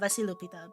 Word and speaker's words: Vasilopita: So, basically what, Vasilopita? No, I said it wrong. Fuck, I always fuck up the pronunciation.